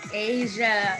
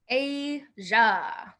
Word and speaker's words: Asia: is the biggest and we say it like a ja i'm gonna put that in the chat asia is said like a ja ay ja i don't know why english is really weird heavy heavier the